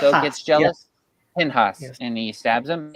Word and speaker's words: Pinchas: To Phineas, who Pinchas, also gets jealous. yes. Pinhas, Yes.